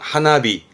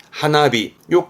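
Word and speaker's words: 花火: 꽃놀이 하는게 하나미가 되겠네요 그렇죠 이게 불꽃이 되겠습니다 발음은 하나비 하나비요 꽃 타자는이 정도가 빈출 단입니다 자 위에 것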